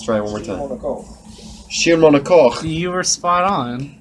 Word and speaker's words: Schiermonnikoog: Schiermonnikoog. You were spot on. Schiermonnikoog.